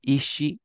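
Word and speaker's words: 石: So this can be pronounced as seki, like in mado seki. Do you know how it's pronounced when it's lonely? It is ishi.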